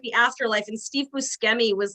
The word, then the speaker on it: Buscemi: probably right then yeah i've also heard bushimi but like yeah i always have said buschemi but he says buscemi so i'm going to go with that it's definitely that then